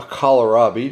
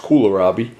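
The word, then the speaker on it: kohlrabi: you won't believe it but this is a kalarabi the first they're actually pronounced kularabi eastern european vegetable i love these these are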